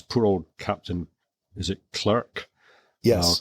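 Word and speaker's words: Clerke: And there's another illness on board which is poor old Captain is it clerk? Yes. Clark. I think they pronounce it Clark or back then they pronounced it Clark.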